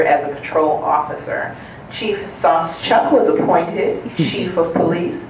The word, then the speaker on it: Sauschuck: I have very little ego, so I actually would love to know how you pronounce it. Sauschuck. Sauschuck.